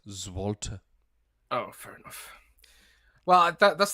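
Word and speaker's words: złoty: It's like Zloty. Is it Zloty? Yeah, probably pronouncing that wrong, but it's something. I probably am. Yeah. Alternatively, no, Zloty. It's got here Zloty. Okay. Well. Zwolta. It's actually pronounced Zwolta.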